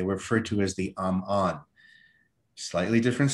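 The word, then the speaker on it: Ammon: instances where it does, because their name was A-M-M-O-N, Amon, okay? And that's the second, that's the last two syllables of Sal Amon, okay? Amon, Omen, Amon, okay?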